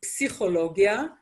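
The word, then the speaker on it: פסיכולוגיה: sound in name hebrew and psychology which is psychologia that's a word that comes from greek and we do pronounce the pu in the beginning of the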